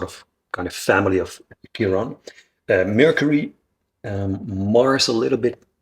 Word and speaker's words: Chiron: And I noticed that Chiron, is that how you pronounce Chiron it? in English. Chiron. Chiron in English.